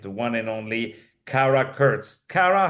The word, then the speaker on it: Kurcz: Her name is Kara Kurtz. Let me spell it for you. Kara, it's Kara. Kurtz is spelled Kurcz.